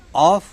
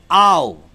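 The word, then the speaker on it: of: कहते हैं, ओ एफ, जबकि उसका शुद्ध उच्चारण ऑफ नहीं है। फोनेटिक रूल पर उसका शुद्ध उच्चारण है आओ।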